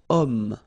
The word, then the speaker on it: homme: Third possibility here, we've got homme, man, okay, but then o is here, we've got this h letter, remember h is not pronounced, okay, so you've got